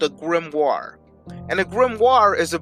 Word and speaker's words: grimoire: bible but they are not known as remorse grimoires are specifically used to teach magic right mars yeah grimoires it's spelled g-r-i-m-o-r-i-e-s but it's pronounced grimoire can i